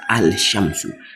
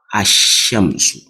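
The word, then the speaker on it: الشمس: to see al shamsu you see not alamsu the L should not come out it what so most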